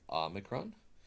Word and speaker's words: Omicron: two words in there ah being this short o sound and micron is a word for short so the short o is the Omicron and I prefer to pronounce that as the Omicron some people choose to pronounce it as an O sound but I prefer to keep that for the the Omega and you can hear o mega the long Omega oh but this is the